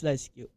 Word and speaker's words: LiSyQ: Yes, it's called LiSyQ, and I know there are some many instances that kind of some variations of how they pronounce the name, but it's this is I bet this is the safest way to to say this. So it's LiSyQ.